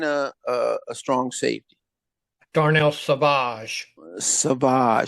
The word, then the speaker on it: Savage: Savage, say it right, not Savage.